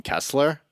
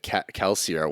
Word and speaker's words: Kelsier: went, and then like Mike pronounced it Kelsier once, and I was like, oh shit, there is an I in that name, isn't there?